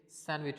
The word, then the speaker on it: sandwich: अच्छा, इसमें डी जो है वो बच्चों साइलेंट होता है, इसको हम सैंडविच कहते हैं, लेकिन ये सैंडविच नहीं है, ये सैंडविच होता है।